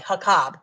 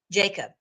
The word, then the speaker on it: Jakob: I think he called it Hakab. And I'm like, wait a minute, Hakab, that is the way that it is. I think it says it's pronounced in Hebrew, but it's Jacob.